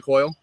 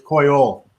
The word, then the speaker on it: Coyol: Is it La Vega coil, is a what? La Vega, No, what's the second part? Vega. No, coil. That's the third part. Wait, Alec, how is it pronounced coil? It's Coyol.